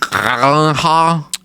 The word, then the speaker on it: Gyllenhaal: Jake Gyllenhaal. It's from- pronounced Gyllenhaal.